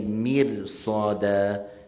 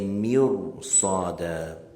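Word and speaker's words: مرصادا: Because the ra, when it has a sukoon, and after it comes a letter that is a letter of elevation and a letter of thickness that has a fatha or a dhammah, you pronounce the ra with thickness. So you don't say mirsada, you say mirsada.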